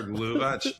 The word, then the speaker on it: Loewe: We are we are Loewe. Term it's a German pronunciation of the word.